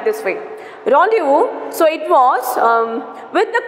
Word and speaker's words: rendezvous: Okay, so not rendezvous, it's a rendezvous. It's a pronunciation it has given here. So we should have to pronounce like this way. Rendezvous, so it was with the comet and the detonation of the payload.